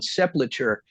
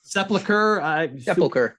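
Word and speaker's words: sepulchre: Children of the Grave I'm going to question your pronunciation on sepulture but we'll just let it ride Sepulcher but yeah it's it's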